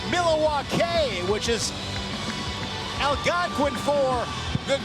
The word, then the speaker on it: Milwaukee: Oh, Sparks, I'm glad your little vision came true here in Milwaukee, Wisconsin. Actually, it's pronounced Milawake, which is alquin for the good land.